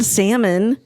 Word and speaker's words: salmon: Co you don't see the L salmon salmon you do not you